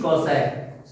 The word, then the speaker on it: cosec: शुरुआत के 3 अक्षर SIN, साइन, ठीक, COS, कॉस, TAN, टेन, COT, कॉट, SEC, सेक, COSEC, कॉसेक, कॉसेक। ये इनका प्रोनाउंसिएशन है, उच्चारण है।